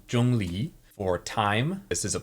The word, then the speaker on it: Zhongli: I would have assumed that he'd be Jong Lee which um is not here that's not what's written here so so that's not how you would say his name no this here is jungi so for anyone who wants to pronounce it correctly jungi for time this is